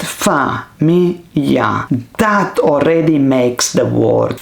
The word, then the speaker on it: famiglia: So instead of just staring at famiglia, you write fa-mi-ya.